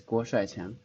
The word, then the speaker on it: Guo Shuaiqiang: The pronunciation is Guo Shuaiqiang.